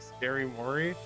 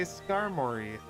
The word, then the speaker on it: Skarmory: available and uh um scary Mory I do not say it like scary Mory I say Skarmory now what you say